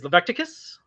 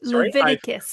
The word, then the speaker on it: Leviticus: In eighth place is Levicus. Leveticus Leviticus. I think, you know what, after relisting to the edit, I think I mispronounced it like three times and all that sort of thing.